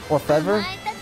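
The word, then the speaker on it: Orfevre: You'd pronounce it Orfev. Oh, you don't say the R? Orfev. I mean it's not like a R sound. It's the Orfev. Because their R is kind of like a mix between an L and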